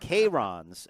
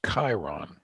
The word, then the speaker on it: Chiron: about this in a little bit uh bugatti k-rons as that is the correct pronunciation k-rock oh i thought it was chiron well chiron was a company that also a